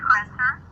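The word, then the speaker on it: Kretzer: Okay, it's Christer. How do you spell that, please?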